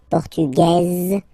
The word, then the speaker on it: Portugaise: Masculine, Portugais, you don't pronounce the S. Feminine form, Portugaise, you pronounce this Z sound, okay?